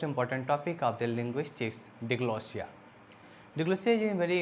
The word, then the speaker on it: diglossia: if we just discuss deglossia actually this is pronounced as deglossia deglossia deglossia is a Greek word degree word